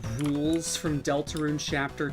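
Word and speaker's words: Rouxls: Is this its pronounced rules from Delta Rune chapter 2? That's funny. Yeah. No, definitely. It's pronounced rules.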